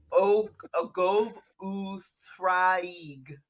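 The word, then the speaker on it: Ogof Ddraig: Ogov Thraig. He corrects my pronunciation. The Welsh double D is the soft TH in leather. How dare you?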